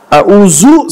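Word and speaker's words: أعوذ: bismill Qul auzubirabbil Falaq lihat bacanya yang pertama Hamzah a yang kedua Ain Qul auuza lidahnya keluar di gigi Qul auzubirabbil Falaq qqalah ulangin auzu salah lihat qulzubirabbil Falaq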